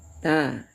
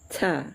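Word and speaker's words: ت: Sebelum dia dibaris juga tetap bacanya ta ya. Ta ya. Jangan baca taa. Nah, jangan sampai menimbulkan angin ya. Hamas. Baca ta biasa saja ya, santai saja membacanya.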